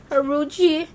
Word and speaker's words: Huarache: The Hurricane? Or the Huarache? I used to say Hurricane too. Oh my god. Huarache. The Huarache.